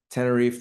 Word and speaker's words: Tenerife: So Tenerife, that was a good pronunciation. Okay, okay, okay, I got that Um, one. Tenerife, the Spanish people would say Tenerife, if you want Yeah, to be oh geez, particular, but yeah, no, yeah.